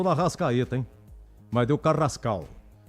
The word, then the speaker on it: Carrascal: Vocês me corrijam, por favor, a pronúncia. Carrascal.